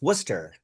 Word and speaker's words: Worcester: It's called Worcester. Same spelling but it's pronounced Worcester. Exactly. So I'm from Worcester the city and then Worcershshire is the county.